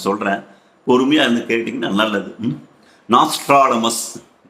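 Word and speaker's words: Nostradamus: பொறுமையா இருந்து கேட்டீங்கன்னா நல்லது நாஸ்ட்ராடமஸ் ஒவ்வொருத்தரும் ஒவ்வொரு மாதிரி உச்சரிப்பு சொல்லவாங்க நாஸ்டல்டமஸ் அப்படின்பாங்க நாஸ்ட்ராடமஸ் அனேகமா உங்க எல்லாருக்குமே தெரிஞ்சிருக்கும் நான் என்னுடைய உச்சரிப்பின் பிரகாரம் அவர நாஸ்ட்ராடமஸ் நாஸ்ட்ராடமஸ் என்றுதான் இந்த பதிவில் நான் சொல்ல போகிறேன் இவர் என்ன சார் அப்படி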